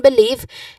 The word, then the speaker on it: believe: See stress and believe is especially or specifically we stressed on the second syllable of believe which is leave.